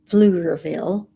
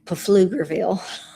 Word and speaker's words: Pflugerville: I've been going to my friend's house in Pflugerville. Robert would say Pflugerville. Cuz that's the way it's spelled.